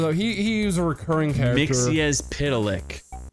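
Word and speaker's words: Mxyzptlk: Mixy as Pitalic. Yeah. That's how you pronounce it. Mix-a-Pitalix. There we go.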